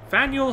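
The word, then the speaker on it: Faneuil: in here Daniel cradle of Liberty turns slums fanuel halls that's how you pronounce it thank you oh and there's feral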